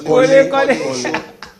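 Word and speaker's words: Kobbie: It's not Kolo. It's Corley. You pronounce it very well.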